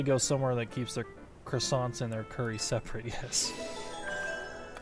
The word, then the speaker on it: croissant: Two more croissants. Eating quickly can give you a digestion, you know. Can you blame me? Their croissants are amazing. Say it like French people do. Croissant.